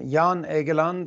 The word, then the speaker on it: Jan Egeland: me if your full name so i can pronounce it properly for all these stories yeah i'm jan egeland i'm secretary general of the norwegian refugee council